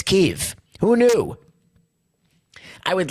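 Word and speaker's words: Kyiv: we know like Keith I always thought it was Kiev apparently it's Keith who knew I would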